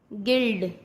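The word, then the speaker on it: guild: जब यू के बाद कोई वॉवल्स हो तब यू साइलेंट होता है। वॉवल्स क्या? AEIOU। अगर ये यू के साथ आते हैं तो यू साइलेंट हो जाता है। जैसे गाइल, गिल्ड, गिटार।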